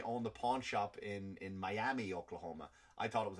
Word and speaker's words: Miami: And it was Miami, they pronounce it, Miami, Native American, big Native American community in Oklahoma.